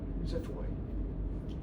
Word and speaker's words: xiphoid: We got the sternum, manubrium, gladiolus, and the pointy thing at the tip, xiphoid. It's spelled with an X, but it's pronounced like Z.